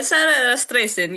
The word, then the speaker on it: Rastrecan: Yeah, Sarah Rastrecan. Yeah, it's a little You got to get that Slavic note to it.